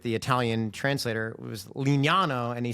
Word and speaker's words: Lignano: Italian translator, it was Lignano, and he spelt it out. But in Italian, if you know it, I's are pronounced like E, and E is I-E.